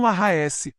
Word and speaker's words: Lahaes: Mantram Lahaes. Este mantram se pronuncia prolongando o som de cada sílaba.